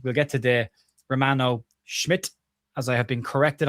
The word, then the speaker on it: Schmid: We'll get to the Romano Schmid as I have been corrected on my pronunciation of Schmid. The D apparently is pronounced as a T as we were also